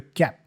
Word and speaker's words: kept: And then the T for kept also goes away. We hear kept. So just kept.